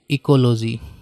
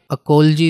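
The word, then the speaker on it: ecology: 71 science of the habits of living things in relation to their environment, इसको कहेंगे local language में इकोलॉजी, ठीक है। अकोलॉजी इसके लिए करेक्ट प्रोनाउंसिएशन है, हिंदी में बोले तो पारिस्थितिकी विज्ञान।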